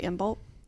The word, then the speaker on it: Imbolc: from I feel like I just naturally say imul without the C because I'm just saying it fast if I think about it I'll pronounce I'll like annate the C but yeah yeah so